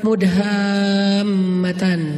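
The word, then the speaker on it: مدهامتان: para pendaki namanya surga mudhamatan bacanya juga harus panjang Karena dia rimbun banget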